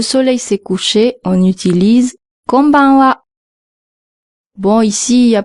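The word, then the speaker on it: こんばんは: Il faut bien marquer la deuxième lettre, le n, comme dans konnichiwa.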